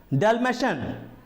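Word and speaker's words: Dalmatian: उसके बाद डेल्मेशन, डेल्मेशन इसका स्पेलिंग आप देखेंगे तो इसमें भी लास्ट में TIAN होता है, डेल्मेशन।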